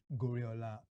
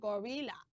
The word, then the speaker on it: Gorola: this story revolve around gorola ah I thought you said gorilla no gorola okay names are important so gorola gorola is